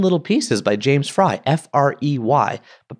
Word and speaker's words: Frey: book a million little pieces by James fry f r y but pronounced fry and I was like oh there's